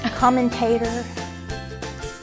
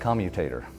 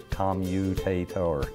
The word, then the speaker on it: commutator: What are some of the most interesting ways that you've heard people say commutator? Commentator. Commentator is the most common. So what's the real word? Commutator. Did I say that right? Yes, say it again. Look at how do you say it correctly?